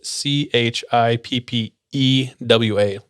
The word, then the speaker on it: Chippewa: americans i'm going to do my best to pronounce it but it's c h i p p e w a chippewa chippewa chippewa chippewa is one of the